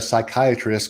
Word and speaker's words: psychiatrist: you cannot hear a psychiatrist going to the restroom i do not have any idea because the p is silent wow it's like yeah